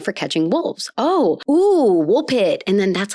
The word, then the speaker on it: Woolpit: pit yay wol pit which apparently should be pronounced wolf pite wolf pite even though there's no F in this great was